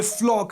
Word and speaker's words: Floch: इसका pronunciation फ्लॉक ही होता है ना, स्पेलिंग है FLOCH।